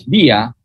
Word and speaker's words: villa: Then there is another key word here, villa or villa, but pronounced in Spanish as villa.